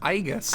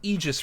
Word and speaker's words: Aegis: egis because like you my first encounter with that word was it being pronounced aigus in Persona 3 because that's how it was spelled and pronounced even though it is very much not how you pronounce that word and I I only